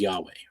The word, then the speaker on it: Yahweh: we know is is Yahweh right um there's a theory that you the way you pronounce the name is actually your inhale and exhale so it's your breath